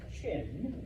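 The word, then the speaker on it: Qin: Um, out of those seven states, there is one, and I know it's spelled with a Q, but it's pronounced Chin, which is where we get the name China from.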